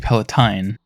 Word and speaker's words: Palatine: I said it wrong before, it's actually Palatine.